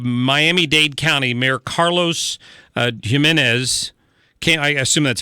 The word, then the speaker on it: Gimenez: the mayor of Miami Dade County Mayor Carlos Gimenez can I assume that's how it's pronounced first letters of G and not a why but it's Jimenez came out and and this is how he